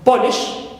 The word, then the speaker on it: polish: Example, like in the verb of polish. So, lish is my suffix. Verb ends in ish, so I stress po.